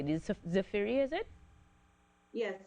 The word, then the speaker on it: Zafeiri: Tell me, who exactly is the, and am I pronouncing it correctly, the Zafeiri, is it? Yes, Zafeiri.